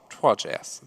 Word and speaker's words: Trois: Do you pronounce it Trois? Trois.js. That is how you pronounce it.